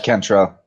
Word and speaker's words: Cantrell: Now, I actually didn't get how your last name is pronounced. It's Cantrell.